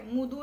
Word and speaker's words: मृदू: तर तिचा आवाज मृदू आहे. मुदू नाही मृदू आहे. हा जो उच्चारण काय तो मुदू होणार. मुदू आणि ह्याचं होणार मृदू. काय उच्चारण होणार? मृदू.